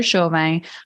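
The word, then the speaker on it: Chauvin: to Instagram you can find me at Heather shovey my last name is spelled c h a u v i n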